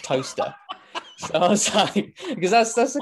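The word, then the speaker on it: Towcester: right just outside Silverstone you've got toaster but it's spelled tester and then of course you got Lester and all that too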